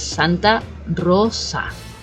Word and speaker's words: Santa Rosa: but definitely that s it should not be pronounced as a z it should be like an S Santa Rosa very soft Okay so moving back